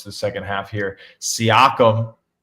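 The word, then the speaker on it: Siakam: How do you pronounce it? I I have a This is my Mandela effect. I will say my Mandela effect. You always say whatever the hell you just said. Sakayam. It's Seakkum, right?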